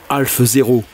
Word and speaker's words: HO: Par commodité on prononce Ho aujourd'hui, mais si l'on se replace dans le contexte de l'époque, il faudrait plutôt parler de Half 0.